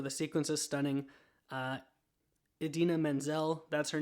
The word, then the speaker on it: Idina Menzel: says the wickedly talented adele dazeem and that is not her name it is idina menzel i don't know what